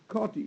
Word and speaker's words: Schottky: Proper pronunciation is Schottky, Schottky defect.